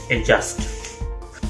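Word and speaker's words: adjust: इसी की वजह से एडजस्ट दिखने वाली ये स्पेलिंग बन जाती है एडजस्ट।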